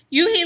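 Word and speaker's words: Unhei: he he asked with his eyes open wide you he looked quickly at mr kim and then turned to joey she nodded slowly yes it's pronounced you he and it means grace mr kim added yoon he joey said slowly time to make it perfect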